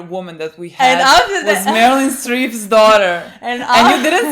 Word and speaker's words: Meryl: It's not Marilyn, it's Meryl.